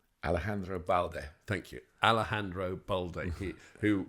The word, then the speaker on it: Alejandro Balde: Alejandro Balde.